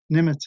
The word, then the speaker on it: Nimitz: Nimitz is spelled N as in nighttime, I-M-I-T-Z, Admiral Chester Nimitz, brilliant officer.